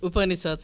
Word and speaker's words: Upanishads: It's Upanishads and Bhagavad Gita, but the way we pronounce it in our country will be different than how people pronounce it in the South Indian.